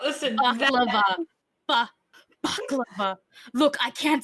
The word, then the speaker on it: baklava: I know there's a word that's similar to it that's like a head wrapping thing. It's literally the exact same word. Or balaclava. Balaclava. Baklava. Listen. Baklava.